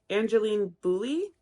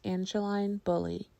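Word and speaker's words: Angeline Boulley: Daughter by Oh No angelene Bully Boule so both of those were wrong her name is pronounced Angeline bully this is a story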